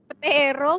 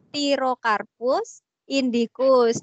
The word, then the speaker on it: Pterocarpus indicus: apa teman-teman jadi kaya jadi itu bukan petiro bukan tapi pti bacanya jadi pterocarpus indicus nama lainnya apa bung